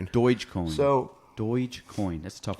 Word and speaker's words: Dogecoin: So back to Dogecoin, is that pronounced? Dogecoin.